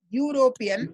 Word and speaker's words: European: The pronunciation of European is European.